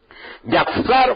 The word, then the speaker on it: yatzar: Bueno, Yatzar fue usada y tiene que pronunciar con Z, así, Z, T, Z. Pronunciarse T, Z, Yatzar.